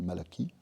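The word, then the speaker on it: Malachie: Ça s'écrit Malachi, on dit Malaki.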